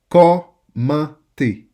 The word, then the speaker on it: commenter: I should see your teeth when you say the last syllable.